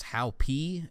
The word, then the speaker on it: Hopi: It's a group of teens, which I believe you pronounce this Hopi, H-O-P-I.